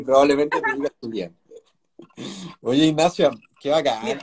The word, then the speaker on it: Jullian: Yo les contaba a la gente, Ignacia, primero, ¿cómo se pronuncia tu apellido? Julián.